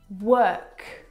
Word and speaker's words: work: The vowel sound is actually as in her. Work, world, word.